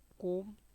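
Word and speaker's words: comb: where ji is silent M बी से कोम where B is silent next definition of word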